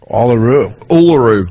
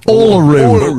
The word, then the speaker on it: Uluru: Uluru. Uluru.